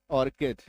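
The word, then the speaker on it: orchid: जब किसी शब्द के बीच में जब किसी शब्द के बीच में सीए आ जाए तो मैक्सिमम टाइम सीएच का उच्चारण क होगा।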